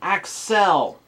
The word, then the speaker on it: Excel: Pronounced Axel, not Axel.